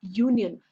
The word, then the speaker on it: union: He has joined a union. Here, you, if you see, it is not you, it is Y. The pronunciation what comes is Y. That's why in front of Y, A will come.